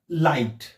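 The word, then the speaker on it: light: एक नियम आहे की शब्दांच्या मध्येच जर जी एच हे लेटर्स आलेले असतील तर ते देखील सायलेंट होतात तर लाईट एल आय जी एच टी तर आपण जी एच चा उच्चार करत नाही म्हणजेच ते लेटर सायलेंट होतात तर काय होतात लाईट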